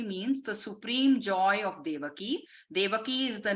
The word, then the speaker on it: Devaki: error here I apologize it's devaki it should be a long I I'll correct that next time one day paramanandam basically means the Supreme Joy of devaki devaki is the name